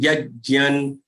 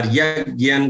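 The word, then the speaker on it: यज्ञम्: Vidhihinam srishtannam mantrahinam dakshinam mantrahinam dakshinam shraddha virahitam shraddha virahitam virahita shraddha virahitam yajyan or yajyan, the way you want to pronounce it, yajyan tamasam parichakshate tamasam parichakshate vidhihinam srishtannam mantrahinam dakshinam shraddha virahitam yajyan tamasam parichakshate.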